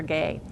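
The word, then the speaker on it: Gey: Gay. And Dr. Guy, actually I believe he pronounced it that Guy, Dr.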